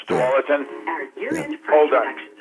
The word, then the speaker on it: Tualatin: It looks like it's spelled Tuala. Oh, Tualatin. It's Tualatin.